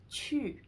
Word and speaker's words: qu: When you see QU, it's always pronounced as chu.